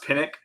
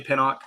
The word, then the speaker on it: Pinnock: having me man um it's actually pronounced pinck some people say pinok um other people that have the same last name last name as me say pinck but it actually is pinnick um yeah Sean all